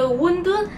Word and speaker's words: wonton: La prononciation de wondun est en cantonais. En mandarin, on dit huntun.